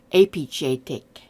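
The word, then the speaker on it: építetek: With epit, we replace the J with an S, a sh, and it's actually pronounced epichetek.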